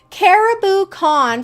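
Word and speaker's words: Cariboo Con: Caribou Con, for those of you listening, it's spelled C-A-R-I-B-O-O, like boo.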